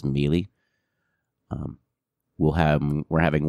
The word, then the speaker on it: Mealy: me and liz mealy i have probably been pronouncing her name wrong in previous episodes it is mealy um we'll have we're